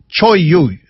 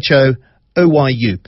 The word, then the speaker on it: Cho Oyu: he had a bunch of clients who climbed Cho Oyu. Now, I had to ask him how to pronounce this. It's Cho-Oyu, Cho Oyu, the 6th highest peak in the world.